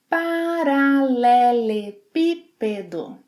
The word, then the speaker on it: paralelepípedo: How would you pronounce this word? Paralelepípedo. Paralelepípedo.